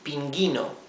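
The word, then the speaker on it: pingüino: If we omit the diéresis, the two dots, this would be pinguino, right? We would be not pronouncing the letter U. But we do want to pronounce it, we want to say pinguino.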